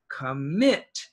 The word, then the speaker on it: commit: baby cat kitten now this word the stress is on the here commit commit and here in salt